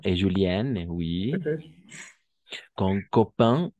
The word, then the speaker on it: copain: Se escriben A-I-N, ¿no? Pero gracias a causa de esa E al final, tiene un efecto retroactivo, si vale el término, y va a hacer que pronunciemos como in, ¿no?